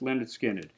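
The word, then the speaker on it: Lynyrd Skynyrd: on that debut album pronounced Leonard skinnard let's keep going next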